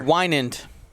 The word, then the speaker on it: Wynand: This is Winand. I said it right earlier. Wynand.